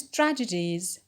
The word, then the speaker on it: tragedies: Tragedies, so the stress is on tra.